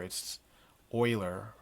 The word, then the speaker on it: Euler: euler's method named after a swiss mathematician named leonard euler and pronunciation to help you hear its euler from 1707 to 1783 it's a computed in